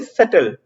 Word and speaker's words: subtle: उसके बाद जो नया शब्द है, अगला शब्द है, वो है सटल। इसमें प्रोनाउंसिएशन पे ध्यान दीजिएगा, एस बी जो है वो साइलेंट है, सटल।